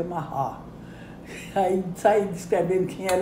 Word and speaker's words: Marat: eu disse olha primeiro o nome não é marate é em francês o erre gutural se pronuncia mará aí saí descrevendo quem